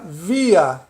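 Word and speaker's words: wir: V, I, R, se pronuncia via, né?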